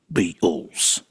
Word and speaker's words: Beatles: the big one, the Beatles. And I will not pronounce the T in Beatles because that's not how you say it. You don't say Beatles. I guess George Harrison said it that way.